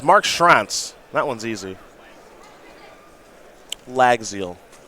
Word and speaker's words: Llagziel: name like it's marks rants that one's easy lag zeal it's not will pronounce that now round number ten here in